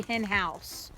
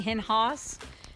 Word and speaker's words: Henhaus: i'm seeing that right it's probably hin house i'm sure it's in house and i've been saying henhaas and i'm pretty sure that's like the german pronunciation house so i'm sure it's